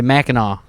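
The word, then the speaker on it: Mackinac: Well, it's spelled Minak. Meno, but you say Meno, I guess.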